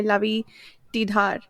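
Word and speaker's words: Lavie Tidhar: over 50% through by Lai tar that's how the audiobook narrator pronounced his name and she sounds like she knows what she's doing so that's how I'll say his name uh and oh it's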